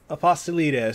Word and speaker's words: Apostolides: only the man Nick a pastelitos man Nick that's awesome and that's great pronunciation in my last name so that's cool